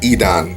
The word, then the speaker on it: Edan: You have Edan. That's how his name is pronounced.